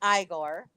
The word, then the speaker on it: Igor: correcting him about that it's not pronounced Igor it's pronounced Igor and then he says